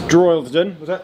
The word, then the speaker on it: Droylsden: It's Droylsden.